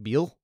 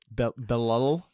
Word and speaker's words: Belal: Mike Beal? Beal? Belal, you pronounce both L's.